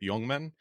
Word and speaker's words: Jongman: Joining me today, I have the privilege of welcoming on Jongman, intelligence advisor here at Mandiant.